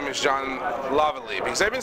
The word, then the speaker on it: Laval: Well, Lavallee is closer to how you say it in French, Lavallee.